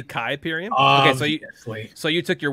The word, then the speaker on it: Kuiperium: information about kypirium and don't be a noob and pronounce it kuiperium only idiots do that it's quite obviously kai period okay so you took